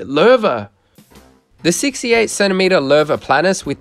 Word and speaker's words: Loewe: highly reputable German brand, Loewe. Idiot! Es wird Loewe ausgesprochen! Alright, sorry, Loewe.